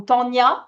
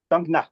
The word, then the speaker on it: Thangna: arrêté là euh pour aller sur Tangna ou Tania, ça se dit comment ? C'est ça. C'est ça. Euh voilà la prononciation. Tangna.